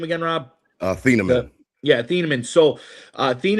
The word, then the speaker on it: Azeez Ojulari: Azeez Ojulari.